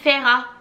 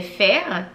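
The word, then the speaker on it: Feyre: il disent qu'on l'appelle ferra bref ça ça s'écrit F e y r dans mon tête c'est fire mais il disent qu'on l'appelle ferra on va l'appeler ferra bref ferra est donc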